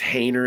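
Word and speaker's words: Haener: They're trying to choose between, I think it's Hayner is how you say it, or Rattler, as you mentioned.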